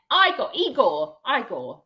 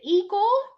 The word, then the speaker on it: Igor: Hello there, Igor. Hello. What did you say? There you go, mate. Igor. Thank you very much. Igor. Tell us, is it Igor or Igor? Well, it's an I, not an E.